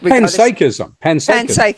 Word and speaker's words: panpsychism: Panpsychism. Yeah. Because it's from psychic, so it's panpsychism.